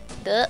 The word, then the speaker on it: deux: Deux.